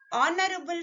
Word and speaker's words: honorable: Honorable family. Start with a consonant letter, but the sound is O, honorable. So, an honorable family. H is silent here.